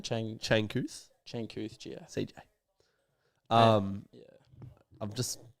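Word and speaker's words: Changkuoth: Changkuth Giath.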